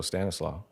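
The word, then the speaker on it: Stanisław: Yeah, that's how you say it in Polish. Stanislaf.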